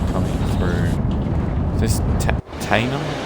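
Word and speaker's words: Teynham: Is this Tainham? Tenham? How do you pronounce this one? Tainham.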